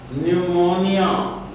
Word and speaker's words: pneumonia: जैसे न्यूमोनिया, PNEUMONIA, न्यूमोनिया। तो न्यूमोनिया फेफड़े की एक बीमारी होती है, फेफड़ों की सूजन को कहते हैं। इसमें पी साइलेंट रहा, केवल एन बोला गया, न्यूमोनिया।